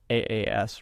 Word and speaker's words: AAS: Alignment as a service, AAS rhymes with Haas, is the idea of paying for a recurring service fee to either enable or monitor LLM endpoints.